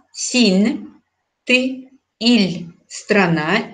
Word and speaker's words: ил: Сигес, сигес, мин, я, син, ты, иль, страна, иль мягко произносится, но мягкий знак не пишем.